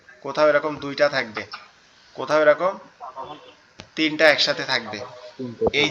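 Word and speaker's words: ت: আবার এই নৌকার মতো দেখতে এর উপরে যদি আমরা দুইটা নোক্তা দেই, এমন যদি দুইটা নোক্তা দেই তাহলে তখন এটা হবে তা।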